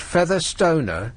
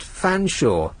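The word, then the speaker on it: Featherstonehaugh: r s t o n a g h feather Stoner is actually pronounced F Shaw how could anybody uh derive that from feather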